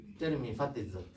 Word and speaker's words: зуд: But he said that animal is killed by cold by zot. Yeah. I pronounce again zot. Zot. You just ignore D. D is not zot.